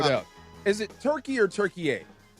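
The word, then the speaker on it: Türkiye: Well, Turkish people want you to call him Turkey a now.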